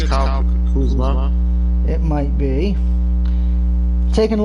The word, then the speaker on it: Kuzma: Lakers forward Kazam, or Kazum, sorry for mispronouncing the last name, he's out with a sprained ankle. I think it's Kyle Kuzma.